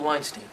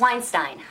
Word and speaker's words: Weinstein: Weinstein? That's Weinstein. Rhymes with fine.